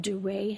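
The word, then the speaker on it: Duret: They're called duray hemorrhages. How do you spell that? D U R E T with a little There's a little accent somewhere. Hear it over the E.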